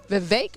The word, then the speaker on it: Vivek: And we learned also, too, from being here on campus, Vivek rhymes with cake.